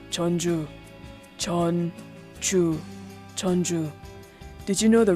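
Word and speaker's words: Jeonju: the north chola province separately the characters are pronounced as chan but together it's the capital of the north chala province is chonju chonju did you know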